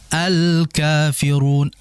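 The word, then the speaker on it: الكافرون: Berikutnya alkafirun. Al di situ kan lamnya jelas ya maka disebut dengan al-qamariyah karena memang al-nya jelas.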